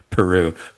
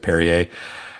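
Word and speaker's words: Perrier: Uh yeah, several uh France inspired dishes including French fries, French dressing in uh Peru, which she she mistakenly mispronounces as Peru instead of Perier.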